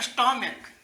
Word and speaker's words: stomach: जैसे में स्टोमक, STOMACH। देखिए अंत में CH है ना, लेकिन इसका यहाँ पे उच्चारण क्या हो रहा है? का हो रहा है, स्टोमक।